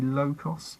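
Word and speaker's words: Lokos: A bit like Locus, but it could be Locus, but it's spelt L-O-K-O-S. Sorry, L-O-K-O-S, so that must be Locos.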